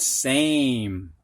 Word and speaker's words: same: quake like an earthquake Sam has a short a I put an e on it we got same tap has a short